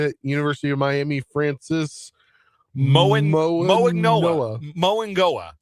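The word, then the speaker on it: Francis Mauigoa: I think he does pronounce the G as an NG, like Tua Tagovailoa does. I think I've heard him say it Moangoa. So I read Moanoa. Yeah. I've heard him say Moangoa.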